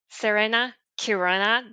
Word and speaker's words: Serena Chironna: And sometimes it's true that C and H are not pronounced ch, but k, depending on the language.